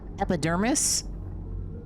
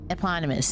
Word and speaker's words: eponymous: How do you pronounce this? Epidermis? Owner of Crow Country theme park here in Atlanta. And indeed, it seems there have been some efforts. Eponymous, there we go.